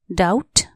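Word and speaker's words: doubt: एस T trust शंका डाउट डी ओ यू बी टी डाउट यहां B silent D ओ यू बी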